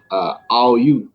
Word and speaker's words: Aoyue: asks how to pronounce Oyu. So we just Okay. want to hear from you what the actual pronunciation is. Well, it's actually uh, more of Aoyue.